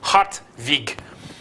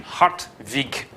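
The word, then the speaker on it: Hartwig: probably like an n hot week I suppose you could also spell it with a V if you want to get the right pronunciation hot week he is appointed Russia's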